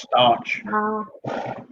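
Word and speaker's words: Stauch: pronounced Stotch.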